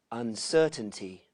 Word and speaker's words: uncertainty: Uncertainty. Uncertainty. Uncertainty. First syllable.